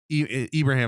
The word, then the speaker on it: Ibrahim: They have Ibrahim is how you pronounce the last name.